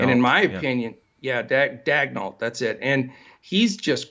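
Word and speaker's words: Daigneault: but he's the gentleman that we can never pronounce his name that took over at Oklahoma City. Dagnall. And in my opinion, Dagnall, that's it.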